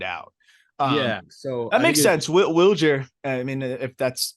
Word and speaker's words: Wilyer: Wilyer Abreu has confirmed once and for all that he does prefer Wilyer pronunciation here in the States.